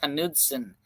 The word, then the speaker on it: Knudsen: right you were wrong Scandinavian name the K is not silent like the word knife in English is pronounced Knudsen right we went through